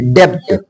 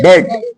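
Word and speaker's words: debt: पर दूसरा रूल है यदि बी के बाद टी आए तब वहां बी साइलेंट रहेगा जैसे डी अभी तक आप लोग क्या बोलते थे डेप्थ लेकिन डेप नहीं बोलना डेट डेट डेट ट मींस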